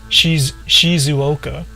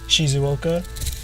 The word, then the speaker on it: Shizuoka: Like, some people would say Shizuoka is how you would say Shizuoka, but Japanese people don't say Shizuoka; they say Shizuoka.